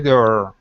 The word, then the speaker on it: door: bit okay because you're you're still pronouncing um that uh Slavic D saying door d door instead of D it's D move your tongue back off the back of your teeth so move it back just a bit door door there that's the sound okay so let's let's